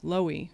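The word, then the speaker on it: Loewy: Raymond, I always say his name wrong, Lowy, yeah? Lowy.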